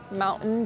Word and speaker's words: Mountain: have the Mountain Dew notice how I pronounce the word Mountain because this is a glottal stop so you do not pronounce the 'T' in the glottal stop you will say Mountain Dew, Mountain Dew.